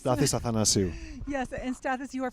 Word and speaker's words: Stathis Athanasiou: Stathis the unpronounceable. Yes. It's Stathis Athanasiou.